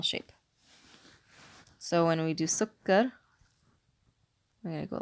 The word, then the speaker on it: سكر: So when we do sukkar, we're going to go like this. You can write it like this. It's got a shadda because kaf is being pronounced twice.